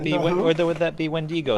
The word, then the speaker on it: Wendigo: would that be wendi-go i believe it's pronounced wendi-go yes wendy go a yes so pay by six get entered in for that awesome see VCS nine point eight what do you really think it's the wind ego no that's not how it's pronounced well that's moving on